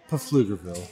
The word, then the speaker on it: Pflugerville: That's pronounced Pflugerville.